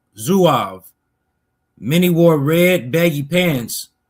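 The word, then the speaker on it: Zouaves: Some of the most famous Civil War units, and those probably with the most distinctive uniforms were the Zoavves, pronounced Zuav.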